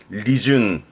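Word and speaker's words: 利潤: 이게 윤활유 윤활유 준카츠유 요게 이윤 은행에 뭐 맡기면 나오는 이윤 발음은 리준 음독으로는 요 정도입니다.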